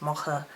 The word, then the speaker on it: Macha: Hello there guys, it's Joey, and this video is going to be about Aphrodite and the goddess Macha, sometimes pronounced Mocha, I've always followed I think it was the Woodfield with the Macha, so there we go.